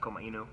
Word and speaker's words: Komainu: is uh it's uh actually pronounced Koma Inu in the Japanese yeah um everyone says call my name so that's what we